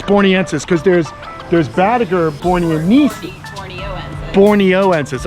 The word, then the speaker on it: borneensis: It's borneensis, because there's Badiger borneensis.